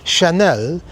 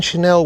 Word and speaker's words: Chanel: But whatever you want to buy in Chanel with Bitcoin, you go to South Africa now and you can pay with Bitcoin for Chanel. Chanel. Maybe I should pronounce it a little bit more French.